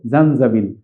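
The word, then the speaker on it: زنجبيل: সেটার সাথে আমরা কাছাকাছি টোনালিটির দিকে খেয়াল করে আমরা এটা মনে রাখবো, জানজাবিল শব্দের অর্থ হচ্ছে আদা।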